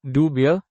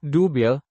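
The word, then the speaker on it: Dubya: It originated from the Southern American pronunciation of his middle initial, W, differentiating him from his father, George H. W. Bush.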